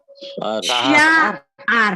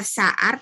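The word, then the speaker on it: שער: Sya'ar. Jangan lupa, jangan baca sa'ar, tapi sya'ar.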